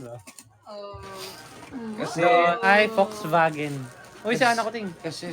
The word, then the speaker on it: Volkswagen: tamang pronunciation ba ay Volkswagen. Uy sa ano akuting kasi sa bansa nila ang pag-pronounce ng V is F. Tapos yung W W ay V. Ang W is V pala. So Volkswagen ah mga ka-wander.